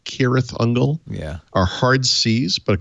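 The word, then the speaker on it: Cirith Ungol: years ago all of the c names like kirith ungle yeah are hard c's but of course i read them as s sound c's like serif angle and then you find out years later that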